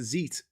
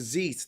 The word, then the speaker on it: Xeet: No, it's a Zeet. It's a Zeet. They've said it's XEET. The problem is, in different languages, they pronounce the X character differently.